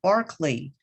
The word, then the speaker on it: Berkeley: of california at berkeley and bishop barkley yes the pronunciation was bent for american ears and berkeley california a